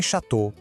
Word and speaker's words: Château: E em Château, aquela combinação O vira um O bem fechadinho.